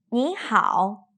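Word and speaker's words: 你好: 你好，很好。你早。 You've probably noticed that the first character, which is also the first syllable, changed into a second tone.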